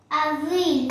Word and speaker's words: Avril: फिर अप्रैल को Avril, आविल, AVRIL, yes, French में अप्रैल को आविल बोलते हैं.